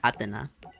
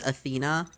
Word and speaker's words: Athena: miraculous descent and bring back atena I know it's Athena but I like I like how they pronounce it in the Japanese cooler to me and